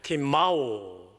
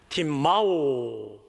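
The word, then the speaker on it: τιμάω: 팀마오. 예, 맨 마지막에 W는 W가 아니고 장모음 O의 발음을 내는 오메가의 소문자입니다. 대문자는 이렇게 되고요. 저건 소문자예요. 자, 그래서 길게 한번 발음해 봅시다. 팀마오.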